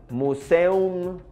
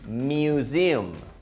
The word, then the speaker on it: museum: He escuchado estudiantes que dicen museum o algo así y realmente no está correcto. La pronunciación de esta palabra es mu. Museum. A museum.